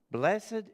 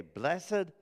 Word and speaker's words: blessed: Blessed in is the man. Now, I don't know if you say blessed or blessed, but you can pronounce it whichever way you like.